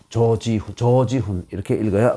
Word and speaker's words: 조지훈: 여러분 유명한 이 승무의 시인 조지훈 선생 있죠? 조동탁 선생, 조치훈 선생인데, 아니, 조지훈 선생을, 조지훈 이렇게 읽으면 또 안 되죠. 조긴선, 조시니까 길게 조지훈 이렇게 읽어야 맞는 것이죠.